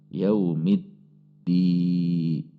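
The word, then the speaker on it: يوم الدين: Perhatikan cara membacanya, karena di sini ada tasydid, maka ini harus ada tekanan. Ketika tekanannya tidak tepat atau tasydidnya terkesan hilang, maka bisa membatalkan Al-Fatihah. Jadi harus ada hentakan.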